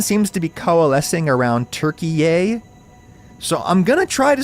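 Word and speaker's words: Türkiye: I'm gonna try to switch to saying turkey a in normal conversation so beak now or forever hold your peace Turks if you don't want to be turkey a with the emphasis on the last syllable and everything tell me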